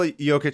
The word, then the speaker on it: Jokić: jokester but just because his last name is spelled j o k i c and like some one of his teammates was like oh I don't know how to say like yic so you're just joker